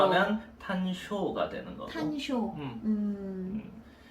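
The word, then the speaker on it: 単勝: 이제 일본 발음으로 발음으로 하면 탄쇼가 되는 거고.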